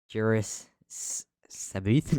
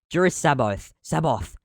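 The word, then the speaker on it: Jorus C'baoth: guy, big bro, the big Juris Sabuth. No, Saboth. I literally practiced pronouncing the name. Juris Saboth.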